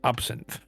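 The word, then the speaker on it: absinthe: It is pronounced absin.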